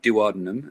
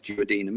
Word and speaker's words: duodenum: through to the duodenum it's not duodenum a judge on webster it is duodenum it's the proper way to say it because we're not savages